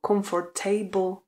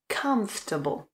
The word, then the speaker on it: comfortable: vás musím zklamat protože správná výslovnost je comfortable comfortable čili po k následuje zvuk a com a to o které se tam píše se tam vůbec nevyslovuje takže comfortable comfortable například